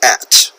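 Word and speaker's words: @: is john x hall how do you say this notice it looks like a little a with a little circle around it that says for at like the word at 18 so john x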